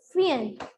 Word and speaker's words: feign: The meaning of pretending is feign. Pretending का मतलब होता है बहाना करना. FEIGN. G sound is silent.